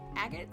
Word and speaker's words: agate: I'm gonna the gemstone right the gate Stone agate stone well how do you pronounce this damn word I'm gonna feel so